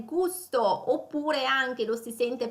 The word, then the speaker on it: gusto: E con una pronuncia appunto più inglese, quindi gasto, gusto, ecco la pronuncia italiana.